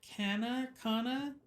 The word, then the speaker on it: Cana: said that he was at the marriage at Cana.